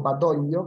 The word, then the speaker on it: Badoglio: Una parte de Italia, que es gobernada por el mariscal Pietro Badoglio, quien fue, o Badoglio, como se pronuncia en italiano, que fue, digamos, nominado